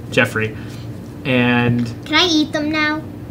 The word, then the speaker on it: Geoffrey: answered and stuff and they persistently call me G off because they know it's wrong to annoy me but yeah I know it is pronounced Jeff Jeffery and I eat them